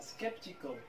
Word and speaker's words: skeptical: الكلمة الأخرى skeptical. skeptical معناها حرف ال A الشوا.